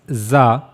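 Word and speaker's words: ز: Now how to pronounce zah? For pronouncing zah you have to use top of your tongue.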